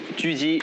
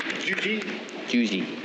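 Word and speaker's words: 狙击: Uh Gi, how how do we say it properly? Juji. Juji. Yeah. Yeah. So hard to get the accent right.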